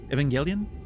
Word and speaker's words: Evangelion: Evangelion. I never know. Okay. It's It's a hard G because it makes no sense because angel, but somehow Evangelion.